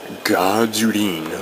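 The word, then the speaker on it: Gdleen: Leen, which is how you would pronounce GD Leen, apparently.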